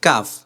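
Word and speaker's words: ك: উপরে তালুর সাথে লাগছে কাফও ঠিক সেইভাবেই লাগবে কিন্তু একটু সামনে কাকা কাকা কাকা ক আর কাকা দুইটার ভিতরে পার্থক্য আছে কিনা দেখেন আমরা কিন্তু অনেকে কফ আর কাফ কে একসাথে মিলায়ে ফেলি কিন্তু এটা করা যাবে না ক এটা আলাদা কাকা এটা আলাদা কাকা কাকা কাকা কি কি কুকু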